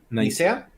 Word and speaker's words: Nicea: ¿Cómo se pronuncia, Teo? ¿Nicea? ¿Nicea?